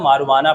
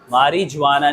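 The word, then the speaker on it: marijuana: इसे देखो लिखा हुआ है मारीजुआना, लेकिन इसे हम मारुआना पढ़ते हैं। क्या पढ़ते हैं? मारुआना। मारीजुआना नहीं, मारुआना पढ़ते हैं। जे जो है वो साइलेंट होता है।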